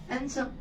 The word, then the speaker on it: handsome: हैंडसम, हैंडसम D silent है, क्या है? हैंडसम।